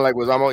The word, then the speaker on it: Leguizamo: Leguizamo? John Leguizamo, yeah.